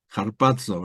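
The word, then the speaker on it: ἁρπάζω: ejemplo y ahí nos lleva a la palabra harpazo verdad se dice así harpo la pronunciación es así la palab que como arrebatarse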